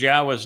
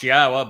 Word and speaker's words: Yahowah: And they changed Yahweh's name, which is clearly pronounced Yahwa based upon Torah, based upon Haya, to Yahweh. All to accommodate their desire to change God into their image, into her image.